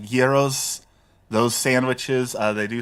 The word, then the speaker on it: gyros: They're not they're they're not heros, they're not gyros, they're like geros, those sandwiches.